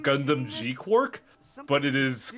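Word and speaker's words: GQuuuuuuX: It's technically pronounced Gundam G quark, but it is Q and then like nine U's and X.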